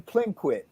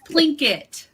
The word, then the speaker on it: Plinkett: So tell us, first of all, about the name Plinquit. Did I pronounce it correctly? It's Plinkett. So Plinkett. Like Plinko, except for Plinkett.